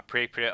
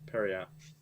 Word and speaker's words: periapt: And for priests specifically, there are, and there's a peril of wisdom, a pre-pit of health, a pre-pit of proof against poison, a pre-pit of wound closure, and a What is a phylactery of...